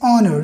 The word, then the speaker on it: honor: It's honor. You can pronounce with me.